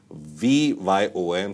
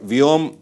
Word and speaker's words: VYOM: new initiative it's called V yom so you can pronounce it as it's comfortable for you but vom what I think is the best pronunciation maybe users can list